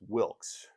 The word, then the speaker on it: Wilkes: Um but the story is that John Wilks Booth his his preferred name was Wilks. He wanted he wanted to be known as Wilks. So if you wanted to get his attention you would yell hey Wilks say hey John.